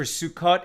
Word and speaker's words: Sukkot: story right sukis or sukkot it's the same thing it's that northern european ashkenaz pronunciation where the t's become s's and the o's become oys etc uh at any rate